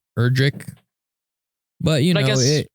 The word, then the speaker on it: Erdrick: It's actually like Erdrick, not necessarily Edric. It's Erdrick.